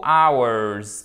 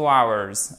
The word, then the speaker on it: hours: Pour une durée, I came for 2 hours. Ok, I came for 2 hours. On ne prononce pas le H. Hours.